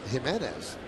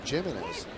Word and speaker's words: Jimenez: know a lot of people say it's Jimenez, which would be the proper pronunciation in Spanish, but it is Jimenez.